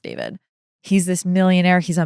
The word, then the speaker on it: D4vd: I've heard so many people call him D4vd, not realizing that it's pronounced David.